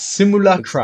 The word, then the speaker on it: Simulacra: I know I butchered that. I'm Simulacra. so Yeah. how do you say that? Simulacra? It's Simulacra.